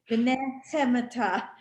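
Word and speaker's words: ונחמתא: Try that last word again. V'nehemata. It's a chet. You got to do the ch. I'm sorry. V'nehemata.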